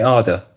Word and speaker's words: Ardour: Well, as the English person in the room, I guess I would also say Ardor. Oh, no, I say Arda.